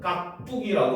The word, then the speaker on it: 깍두기: 된 소리로 나잖아요 그렇죠 그러니까 표기는 예사 소리로 표기를 해 가지고 각 두기고 표기를 하고 읽을 때는 깍뚜기 읽습니다 알겠습니까 그래서 요거 같은